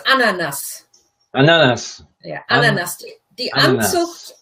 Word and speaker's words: Ananas: Now, ananas is. Well, let's look at the pronunciation first. It's ananas.